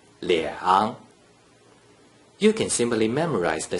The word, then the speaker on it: 两: When there is only a single digit 2 without any other digits inside the first three green circles, the digit 2 is pronounced 两.